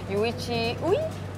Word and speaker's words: Yuichi Ui: Okay, and you have your Japanese rider coach with you, Yuichi Ui? Yes, you taught me how to pronounce that.